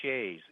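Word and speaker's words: sidhe: about uh fairy mythology it's the the fairy Shay s d h e it's it's SP it's pronounced different than what it what it's spelled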